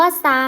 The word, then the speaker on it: พุทรา: พุทรา เห็น คำ ว่า ซา คำ นี้ ไหม คะ อา ทร ออก เสียง เป็น เสียง ศ. โซโล นั่น เอง นะ คะ หน้า ต่อ